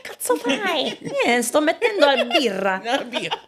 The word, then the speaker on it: birra: Sto mettendo la birra." Did I say birra the right way? Is this supposed to be another word? How do you say beer in Italian? No, I think you said it right.